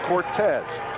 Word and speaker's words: Cortez: I was thinking of Ken Cordes, and I was pronouncing his name Ron Cordes. It's Cortez. My apologies. Their bodies are a lot different, too. As in Dave Baby Cortez of the Happy Organ, for those of you old enough to remember.